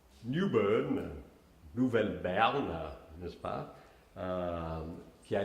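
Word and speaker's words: New Bern: Et je commence avec la ville, on m'assure que la bonne prononciation, c'est Newbern. Newbern, Nouvelle-Berne, n'est-ce pas, qui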